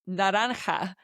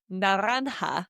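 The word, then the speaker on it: naranja: Now orange is a strange word which is naran which is written n a r a a n j a n a n a nanha which is a bit of a tricky one to pronounce.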